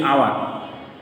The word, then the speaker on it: hour: use here we hear the second example is our hour is beginning with this but h is silent so we pronounce it as our not